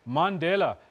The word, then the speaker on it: Mandela: And what I found most interesting was how the grandson of Nelson Mandela described and actually pronounced his own surname. Mandela is what he said.